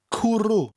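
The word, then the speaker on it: cwrw: cooroo cooroo cooroo cooroo people who say well she has no vowels will love this word it's spelt c w r w kuru now orange ifs is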